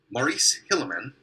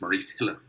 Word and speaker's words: Maurice Hilleman: Maurice Hilleman created, I think that's how his name is pronounced, Maurice Hilleman, created the vaccine by taking a sample from